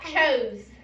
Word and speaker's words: chose: The E, does it make a sound? Yes. Think about it. Chose. Chose. No. Do we hear an E in that? No. No, so the E is silent.